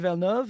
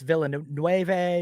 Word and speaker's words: Villeneuve: pronounce Denis Villeneuve, and they need to, Yeah. you know, because too it's Villeneuve or Dennis Yeah.